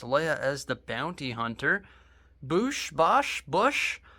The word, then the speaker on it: Boushh: Boushh. I've heard it pronounced all 3 ways, but I believe Boushh is the correct way.